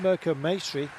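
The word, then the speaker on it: Mirco Maestri: This is Merco Masonry. Rhymes with pastry.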